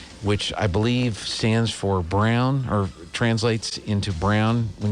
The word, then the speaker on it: Braun: so so they don't they don't say brawn they don't play that game no not in germany there so um so they it's still spelled the same way but they but they say brown brown okay well i guess